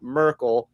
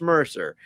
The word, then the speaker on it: Mercer: You should know that number 91 is not Merkel, it's Mercer.